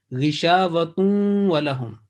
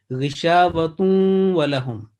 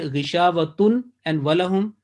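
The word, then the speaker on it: غشاوة ولهم: So make sure it will be ghishavatun walahum. Because if you say ghishavatun and walahum, that according to the rule, that will be wrong and this is incorrect in joining.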